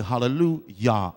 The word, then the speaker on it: hallelujah: If you notice with hallelujah, we pronounce the J with a Y sound because there is no J in the Hebrew alphabet. So we say hallelujah.